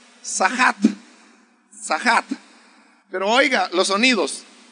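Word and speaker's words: צחק: La palabra que aquí dice burlarse en el hebreo es una palabra que se pronuncia sahat.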